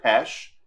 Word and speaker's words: Budapest: the way that you pronounce it uh pesk instead of pest uh which is how it is spelled i believe uh yeah i mean it's i think it's i think pesh is actually the oh so i